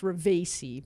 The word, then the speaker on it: Ravesi: It's Ravesi, but yes, you said it Ravesi?